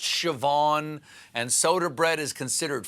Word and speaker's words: Siobhan: how scene is pronounced shawn and shseoban is pronounced siobhan and soda bread is considered food biden came